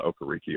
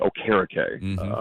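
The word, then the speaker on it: Okereke: EJ speed and okariki well that's not okariki oh karakay I think okoriki was the initial pronunciation on that but I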